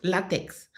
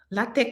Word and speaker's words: LaTeX: I work so hard my my master test theesis there was a program is called latex latex is called it's pronounced lat but it's spelled l a t